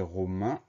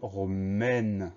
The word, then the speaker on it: romaine: Au masculin, c'est romain. Comme on ajoute le E pour le féminin, ça donne romaine. Donc cette fois-ci, on n'a plus le son 1, mais on a le son E des lettres AI.